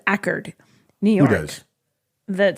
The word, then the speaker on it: Accord: It's spelled like Accord, but they pronounce it Ackerd, New York.